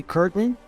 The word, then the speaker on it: curtain: now here are some examples we also say curtain curtain Mountain Mountain men happen Manhattan and the